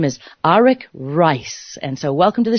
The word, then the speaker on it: Arik Reiss: Arak and it's very exciting many people might pronounce his name Eric Ries but indeed that is incorrect so I want